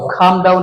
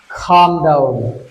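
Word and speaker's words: calm down: কামডাউনটা কিভাবে শান্ত হও খামডাউন অর্থি এই এম এখানে এলটা উচ্চারণ হবে না খাম উচ্চারণ হবে কিভাবে বলতে পারি বন্ধুরা খামডাউন খামডাউন কামডাউন মানে শান্ত হও।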